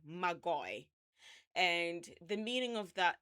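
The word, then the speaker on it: μάγοι: So it's actually, the Greek word is pronounced magoi, so Magoy, magoi.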